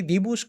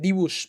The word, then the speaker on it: Dibu: Eh, DB literalmente se pronuncia así. Divus como el Divu Martínez. Incluso a mí me parecía raro cuando el el redactor argentino decía el el dibus, pero es que literalmente es el dibus, pero con ese y Z.